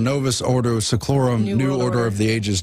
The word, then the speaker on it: Novus Ordo Seclorum: But now it's Novus Seclorum Ordum, New Order of the Ages. Excuse me, I said it wrong. Novus Ordo Seclorum, New Order of the Ages, New World Order.